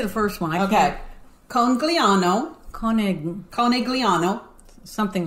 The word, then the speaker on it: Conegliano: Okay, so Pam, help me pronounce this. You say the first one. Okay. Conegliano.